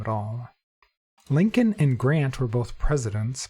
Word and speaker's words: Lincoln: Lincoln and Grant were both presidents, but I don't see other presidents in here.